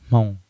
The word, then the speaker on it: Hmong: I guess the first one is, how do you pronounce Hmong? A lot of people are confused because the H in Hmong is silent.